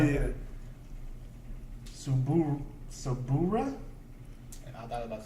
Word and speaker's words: Subaru: Subura? And I thought about How do you pronounce that? Subura? Subaru.